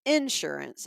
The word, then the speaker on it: insurance: So the syllables that we use in the South, sometimes we put the emphasis on the first syllable instead Right. of the second. Like he says insurance and umbrella.